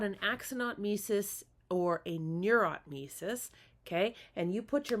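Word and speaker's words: neurotmesis: Um, and then the the last one, the most severe one is a neurotis, which I often mispronounce as neuronaut meis, but it's neurotis.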